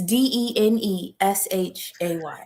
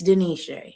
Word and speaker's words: De'Neshay: It's Deneshay. And you tell them how to spell it, because look for me. Look for Okay. me. Ask about me. Don't say Shay, it's Denisha.